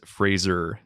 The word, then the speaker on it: Fraser: It is Fraser. And he he confirms it himself. Says that everyone pronounces it wrong.